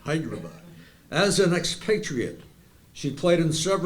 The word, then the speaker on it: Hyderabad: Said it right, Hyderabad.